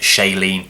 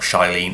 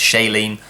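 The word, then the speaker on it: Shailene: The also the one thing that I have learned from this learned from this Blu-ray as well is it's pronounced Shayen, not Shyene, it's Shayen.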